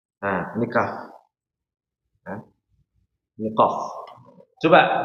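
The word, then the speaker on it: ق: Ini qof. Coba diucapkan ini. Perhatikan juga pangkal lidahnya naik lagi. Yang ini pangkal lidahnya naik lagi. Ditinggikan suaranya agar tebal ya. Kalau ininya enggak naik enggak jadi tebal.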